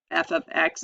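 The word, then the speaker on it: f(x): to see this um a different notation here f ofx is how it's pronounced or how it's stated um it's just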